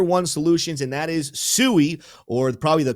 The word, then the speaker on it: SUI: Next up on the list is one of the newer and hotter layer one solutions, and that is SUI, or probably the correct pronunciation, SUI for everybody out there.